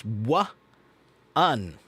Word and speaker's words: one: pronouncing one uh well one has a a w ww sound at the beginning of it okay so it's w un so Tomo if you